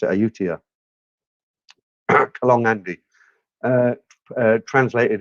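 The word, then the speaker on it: Ayutthaya: one time in Utah and that's how you pronounce it ayutia along Andy uh uh translated as Canal Andy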